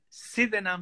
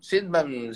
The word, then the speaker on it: Sydenham: En la estación, en Sydenham Station. Sydenham, sí. Sydenham, Sydenham. Sí. Se escribe S-Y-D-E-N-H-A-M.